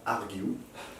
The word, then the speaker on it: Argue: Et oui, effectivement, c'est bien Argue. Et pourquoi cette prononciation à l'anglaise? Parti pris de le prononcer à l'anglaise.